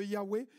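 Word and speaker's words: Yahweh: Je suis tenv Yahé quand on a mal prononcé ça, le tétramme Yahé, ça a donné Jéhovah. C'est une mauvaise une mauvaise prononciation de Yahwé qui a donné Jéhovah.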